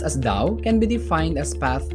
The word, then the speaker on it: Tao: Daoism is China's indigenous religion and philosophy Tau pronounced as Dao can be defined as path or Road it